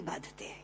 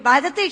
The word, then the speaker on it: बाधते: कष्ट दे रहा है क्योंकि बाधते शब्द का अशुद्ध उच्चारण आपने किया है यह शब्द बाधते होना चाहिए भारत न बाधती राजन